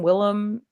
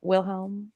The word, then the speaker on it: Wilhelm: Willem H. Pell? Wilhelm. Well, I pronounce it Willem, but like, I know it's Wilhelm. But the audiobook pronounces it Wilhelm.